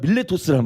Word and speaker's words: 밀레토스: 근데요 밀레도가 우리 바라는 밀레도지만 그때 당시에 발음은 밀레토스란 말이에요.